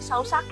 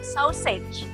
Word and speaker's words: sausage: Nah, bacanya jangan sausage ya, bacanya sausage.